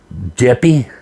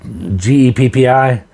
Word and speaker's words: Geppi: their parent company, and I'm gonna pronounce this Geppi. I think GEPPI is the parent company. I think it's pronounced Geppi, and they're already selling off operations to pay off some of the debt.